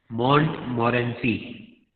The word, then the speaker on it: Montmorency: So please tell me what is the pronunciation? Question answers are there on this dog also. What is his name? Montmorency.